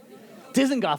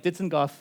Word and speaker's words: Dizengoff: I've certainly been struck, I'll say the name wrong, this plaza here in the center. Dizengoff, I practiced. I practiced beforehand, but up here on stage, I didn't get it.